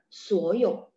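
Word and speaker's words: 所以: Suoyo. Suoyo. Karena suo sama yo sama-sama nada tiga, sehingga suo-nya berubah jadi nada dua.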